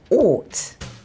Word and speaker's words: ought: How do you think we say this word? Out. Out. Oh. Ouch. No? Out. Out. That was hard for them. Yes. We say ought.